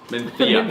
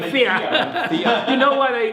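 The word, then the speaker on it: Mencía: it's It's still my favourite variety to pronounce. Menthea. Menthea. You know why they lisp? Because there was a king many years ago that had a bad lisp, and he was a very popular king.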